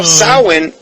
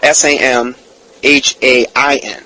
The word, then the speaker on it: Samhain: celebrates their God called Lord sahlan okay now xoan is actually spelled s am h AI n sounds like Samhain but sound is actually the